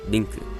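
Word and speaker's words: リンク: It's simply Link, and his Japanese name, as shown here, is Rinku. But before I go on, I want to note about the not directly the pronunciation of certain words, but the accenting, like epona versus epona, or epona.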